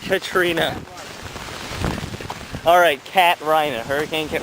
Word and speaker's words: Katrina: It was like hurricane Cat Rhina. I'm pretty sure it's pronounced Katrina.